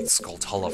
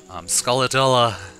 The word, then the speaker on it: Skulltula: It might be Skulltula for all I know, but I'm assuming it's Tula. Skullatilla. That's what my friends used to call it when it was age